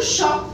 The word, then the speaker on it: chat: Par exemple, regardez dans ce cas-là, On a le mot chat. Hein? Regardez la lettre T, on ne le prononce pas.